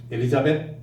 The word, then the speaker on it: 엘리자베트: 그 발음이 영국 발음으로 엘리자베트거든요. 엘리자베트 이 이름의 뜻은 하나님께 맹세한다 그런 뜻이에요.